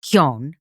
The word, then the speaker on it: Keoghan: So, and it's Keoghan, Barry Keoghan.